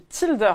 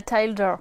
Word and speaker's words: Tilder: tu es associé chez tilder est-ce que je le prononce bien très bien c'est tout à fait ça et non pas tier comme on m'a dit et encore moins tinder j'ouvre une parenthèse mais